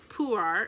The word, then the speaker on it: Pu'er: So the ingredient is ripe shu, Chinese puree, pronounced pu'er. So, okay, Chinese pu'er, and then tea, ginger, and it is organic.